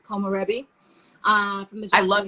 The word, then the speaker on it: komorebi: How do we spell that? It's K-O-M, O-R-E-B-I, Komorebi.